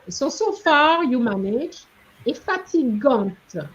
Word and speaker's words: fatigante: La montée était longue, so far you manage, et fatigante. One didn't pronounce the T, fatigante.